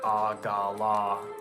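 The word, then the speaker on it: AGLA: you inone um aw this book actually says you pronounce it aala as in three syllables I'll have to look into that normally I pronounce it with two syllables um and it's actually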